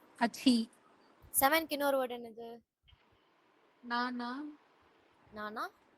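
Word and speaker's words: なな: நானா நானா இன்னொரு வேர்ட் ஷீச்சி சிச்சி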